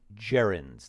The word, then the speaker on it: gerund: all let's talk about jirens that g is pronounced like a j Jaren JNS I like